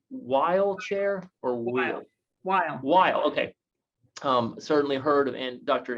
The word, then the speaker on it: Weil: She's the inaugural Andrew, is it pronounced Weil Chair or Weil? Weil, okay.